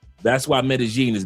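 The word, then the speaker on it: Medellín: Two L's make a G sound. That's why Medigene is not metalene is not metagene.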